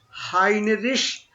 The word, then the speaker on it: Heinrich: Now notice the difference in the pronunciation between Heinrich and Siegfried. Okay, just this is E. This is pronunciation is Siegfried. Siegfried, right? And here was ich or ish. Yeah. Right? Heinrich. Ish and Eid, right?